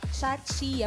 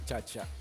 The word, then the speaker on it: Chachia: Chachia. Bakit po pala Chachia ang pangalan ng team Ang ninyo? tamang pagbigkas niyan, chacha.